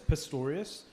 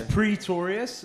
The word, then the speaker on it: Pretorius: no second oh and it's sometimes mispronounced as Pistorius which we because that guy was Valentine's Days are amazing for me but it's Pretorius and yeah look for